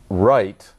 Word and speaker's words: Wright: Now, in fact, there is a family name, Wright, but it is spelled W-R-I-G-H-T.